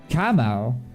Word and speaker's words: Kamau: I didn't even know it, but Kamau is pronounced Kamau, but the first A is like in cat.